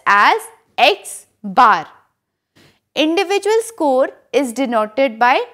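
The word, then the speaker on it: x̄: the result is 22.86 that means the mean is 22.86 the mean m is represented by capital x and it is pronounced as x bar individual score is denoted by small x total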